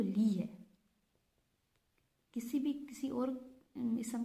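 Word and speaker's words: لَهُ: जिस तरह प्रोनाउन लहू, लिहू नहीं हो सकता, लहू।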